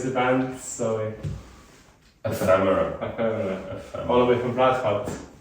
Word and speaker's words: Ephemera: How do you pronounce the band? Sorry. Ephemera.